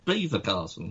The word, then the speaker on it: Belvoir Castle: say that about your beaver castle yeah yeah but we say it is that's not how you spell beaver no you're right i'm